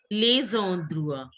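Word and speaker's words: enfants: D sound is not should not come. It should be on drua. Dra. On drua. On Drua. Yes, good. On drua. Lay on drua. Tab codes. How will you pronounce this? Lay on drua. Very good. But it should be pronounced as lays on drua because this is the linking of, you have to link the words. This ondrua is starting from E. So it has to be lays ondrua.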